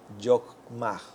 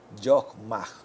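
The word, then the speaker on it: חכמה: La palabra sabiduría viene del nombre Yokmah. Yokmah. Se pronuncia así, que significa sabiduría, experiencia, astucia.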